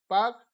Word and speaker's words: Palk: इसका स्पेलिंग है PALK, पाक जलडमरू मंडल।